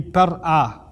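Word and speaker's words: pr-ꜥꜣ: Its original pronunciation is argued to be par'a. Par'a is two syllables.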